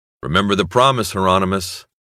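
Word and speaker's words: Hieronymus: Out of the blue and into the black, he looked at Bosch through the camera and said, "Remember the promise, Heronmous." Rhymes with anonymous, Bosch said.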